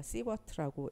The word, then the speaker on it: 시버트: 그리고 SV라는 것은 우리가 시버트라고 읽는데 유효 설량이다.